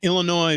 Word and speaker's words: Illinois: along we're huge in Illinois because we don't pronounce the S we refuse to yep because we're polished